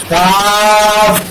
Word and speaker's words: قاف: এটা শক্ত হবে, শ্বাস চালু থাকবে এবং পাকর 5 নম্বর মাত্রার অনুযায়ী এই হরফটাকে উচ্চারণ করতে হবে।